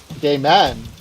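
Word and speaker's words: Gaiman: Neil gaming g a i m a n gay man gay man gaming yeah how does he pronounces a gaming or gay man gaming g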